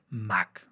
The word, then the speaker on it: Mach: cosa que el número Mach o Mach. De hecho, debí investigar cómo se pronuncia primero, pero es MACH, conocido en el uso coloquial, pues así, nada más, como Mach.